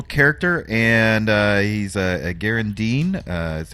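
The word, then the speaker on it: Gharu'ndim: here my little character and uh he's a Garand Dean uh is how they pronounce it uh which means he's kind of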